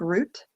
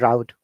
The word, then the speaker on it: route: heard it different ways i've heard it like um where people say it like root yeah root 66 like the root of you know the vegetable root that's right but but in american accent both are correct root and route i've had both of